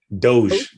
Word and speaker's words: Doge: How you pronounce it? Doge.